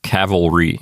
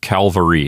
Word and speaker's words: cavalry: speakers mispronounced the word cavalry they pronounce it as calvary they switch the l and the v so cavalry that means